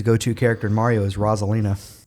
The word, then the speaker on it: Rosalina: Wait, is it not Rosalina? It's Roselina.